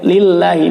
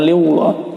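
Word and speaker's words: لِلَّهِ: Nah, di sini ada sebelum lafaz Allah atau di sini barisnya adalah harokatnya harokat kasrah, maka dibaca tipis, lillahi bukan liwallah. Fala taj'alu lillah, maka dibacanya tipis, tarqiq, lamnya lamut tarqiq.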